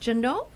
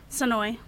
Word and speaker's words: Sonoy: Women, and that's pronounced Jano? Sonoy. Oh, Sonoy, that's an S, not a J.